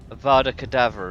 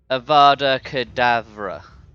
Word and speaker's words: Avada Kedavra: a moment forever cadaver to uh it's Avada Avada cadaver isn't it like is that how it's pronounced rebellious let's see how is it pronounced Avada Kedavra yeah Avada cadaver it's almond do you know